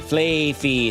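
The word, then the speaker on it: Flaaffy: Flafy.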